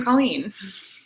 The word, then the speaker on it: Colleen: It's like you're trying to say clean, like you're about to clean something, but you hesitate, like Colleen. Colleen.